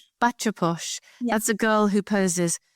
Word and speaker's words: bacha posh: I don't know if I'm going to pronounce this right, but you lived as a backer posh. Is that right? Posh. Bacha posh.